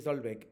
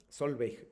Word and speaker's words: Solveig: Dice Solbeck, en el mismo apartado eh ponemos nuestras citas textuales. Por cierto, mi nombre se pronuncia como se lee. Solveig.